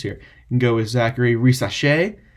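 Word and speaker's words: Zaccharie Risacher: you can go with Zachary race that's how you pronounce it he's French uh you can go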